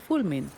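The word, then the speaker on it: Fulmine: from The Pioneer Association whose name is fmin or F depending on on who's speaking dnie actually says it better although again the final e is never silent while the guy himself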